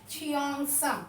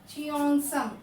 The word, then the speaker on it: Cheongsam: Cheongsam. What it is? Pronunciation children amma. Cheongsam. Cheongsam is the dress.